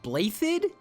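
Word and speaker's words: Blaiddyd: territory as a republic hold up blade did is pronounced blade how on earth do DS turn into a sound this must be some kind of Danish debauchery I'm sure ah god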